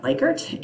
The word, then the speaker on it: Likert: use something like a Likert scale. If you're a psych major, you probably pronounce that Likert, and you are wrong. It is Likert. It was named after Mr. Likert.